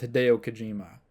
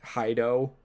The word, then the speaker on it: Hideo Kojima: You'd think that with someone who's like best friends with Hideo Kojima. Do you think he's been mispronouncing Hideo Kojima's name this whole time? He's been calling him like Hido.